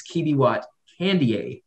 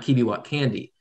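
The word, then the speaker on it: Kibiwott Kandie: month to learn that it's Kibiwot Candier, not Kibiwot Candy.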